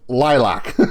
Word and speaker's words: LYLVC: up their website and they literally say uh pronounced lilac like they literally in like the first sentence